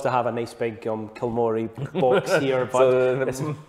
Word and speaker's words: Kilmory: Kilmory is how people pronounce it, Kilmory.